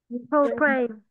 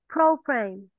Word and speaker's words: program: Program. Yeah, program. We stress on the first syllable. Right, Ngân, can you try to make it again? Program.